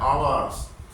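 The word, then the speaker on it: hours: ओ यू आर एस ये लिखा जाता है एच ओ यू आर एस लेकिन बोलने में एच साइलेंट होता है आवर्स Ritu had not been reading reading English for टू आवर्स।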